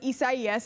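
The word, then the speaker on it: Isaías: to that geographical region so it was isaias and that was how the national hurricane center wanted us to pronounce it because they have to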